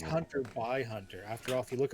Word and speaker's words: Hunter x Hunter: peak of hipsterdom and stop pronouncing the X. Hunter? For a long time, it was like a meme that you had to pronounce it that way or you're like a casual. But this is like... It's Hunter by Hunter.